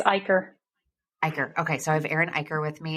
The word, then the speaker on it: Eicher: of the episode I have Aaron with me pronounce your last name because I'm gonna say it wrong it's ier ier okay so I have Aaron ier with